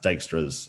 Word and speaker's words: Dijkstra: Yeah, I think it's pronounced Dijkstra's algorithm.